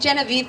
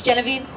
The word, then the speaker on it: Genevieve: Oh, I'm saying Genevieve because that's how my students pronounce it, but is it Genevieve? It's Genevieve? Yes, okay.